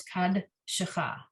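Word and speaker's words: קדשך: word on line 6, it's got both. It's got the dalid with the shva, but it's the end of the syllable, and the shva under the shin at the beginning of the syllable. At the end, it's not sounded. At the beginning, it is sounded. So the word becomes kad shecha.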